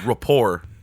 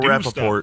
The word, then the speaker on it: rapport: That's called rapport. Yeah. Not Michael Rappaport. Stuff. Rapport. Mm-hmm. Rapport. Not the Colbert Report. Right. Same pronunciation, different spelling.